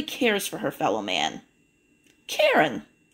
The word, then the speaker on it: Karen: Karen rhymes with Sharon. Karen Sharon.